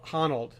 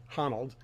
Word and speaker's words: Honnold: young man his name is Alex I always mispronounce his name huh Honnold Honnold he's a rock climber and he he well